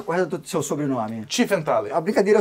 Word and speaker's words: Tiefenthaler: E qual é a pronúncia correta do seu sobrenome? Tiefenthaler.